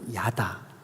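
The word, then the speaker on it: ידע: 알아 할 때 안다, 이걸 히브리 말로 야다 이렇게 발음하거든요.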